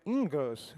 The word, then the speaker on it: Ingres: A pronúncia seria Ingres, é um pouco complicado, né? E meu sotaque francês não é tão bom assim, mas a